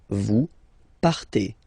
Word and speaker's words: partez: Okay, then for vous, classic ending for vous as well, EZ, but then you pronounce it et, vous partez, vous partez.